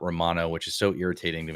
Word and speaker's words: Romano: It's pronounced Romano and not Romano, which is so irritating to me.